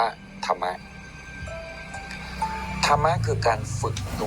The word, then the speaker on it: ธรรมะ: ง่าย เป็น ภาษา ไทย ถ้า ภาษา บาลี ก็ ธม ถ้า ภาษา ไทย ก็ ธม สระ อะ อ่าน ว่า ธรรมะ ธรรมะ คือ การ ฝึก